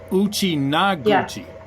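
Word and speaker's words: Uchinaaguchi: Uchi yeah it um I believe Uchi naguchi Uchi naguchi yeah it's it's a long a in the middle that's Alli naguchi okay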